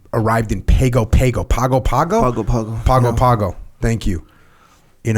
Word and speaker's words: Pago Pago: in pgo pgo Pago Pago pagoo Pago Pago thank you in American Samoa yeah actually it would be pronounced Pongo Pongo if I'm not mistaken because you add the n Sound and okay the G